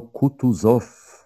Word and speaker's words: Kutuzow: — Generał Kutuzow — powiedział Bołkoński, akcentując jak Francuz ostatnią sylabę — Zow.